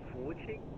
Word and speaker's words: Fuqing: Actually, pronounced is Fuqing.